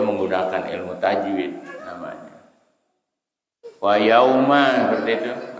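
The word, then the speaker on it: يَوْمَ: Ada wawu sukun patah, maka wawunya disebut huruf lain, lembut, lain. Bacanya yauma. Jangan yauma, bukan yauma tapi yauma. Cara melafalkannya begitu. Jangan dipotong langsung yau, bukan yau tapi yauma. Ada pergantian antara huruf ya melafalkan dengan waw.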